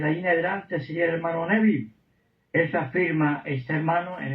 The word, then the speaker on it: Neville: ¿Sabéis que se escribe Neville? Se pronuncia más o menos Nevil, Orman Nevil.